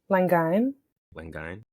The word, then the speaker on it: Langaigne: how do you say your last name actually Lang Lang all right all perfectly I'm saying it one